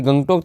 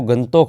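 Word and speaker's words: Gangtok: अच्छा गंगटोक का यह गंगटोक तो नहीं वैसे तो इसका जो उच्चारण है वो गंतोक होता है।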